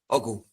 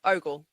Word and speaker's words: Ogle: Ogle. Close. Ogle.